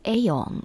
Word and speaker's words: Aion: And his first name is Aeon, which is spelled Aion.